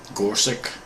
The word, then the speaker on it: Gorsuch: How do you pronounce that name? Gorsuch.